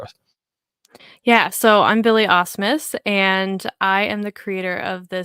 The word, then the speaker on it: Asmus: That is the right pronunciation, right? Asmus. Close enough. Asmus.